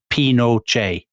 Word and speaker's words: Pinochet: saying his own name, Chileans often swallow the T at the end of the word. So actually, what he actually says is Pinochet. Pinochet. Yeah. Okay, that's what we'll call him then. But when we slip into, because we're British, so we'll obviously slip into calling him General Pinochet, as people always do. So listeners will just... Pinochet, as in Che Guevara.